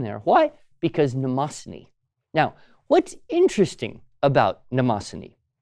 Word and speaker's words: Mnemosyne: It's from the Greek god mnemosyne. Now that is spelled, in case you're curious, Mnemosyne.